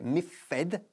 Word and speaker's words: miffed: Miffed, se escribe miffed, acabando también en ed, pero lo pronunciamos miffed, con un sonido fuerte de t al final.